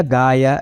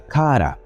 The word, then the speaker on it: Gaya: Bloomington, chamado Christopher Beckwith, a ortografia Gaia é a leitura coreana moderna dos caracteres usados para escrever o nome, enquanto a pronúncia correta seria Kara.